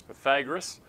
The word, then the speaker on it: Pythagoras: to send it out you might think it's Pythagorean but that's not actually how we pronounce it the guy's name was Pythagoras and we call it the Pythagorean theorem he lived before the